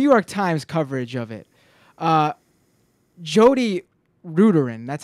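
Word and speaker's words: Jodi Rudoren: but there's also he pointed out that in the New York Times coverage of it, Jody Ruderin, that's how you say her name.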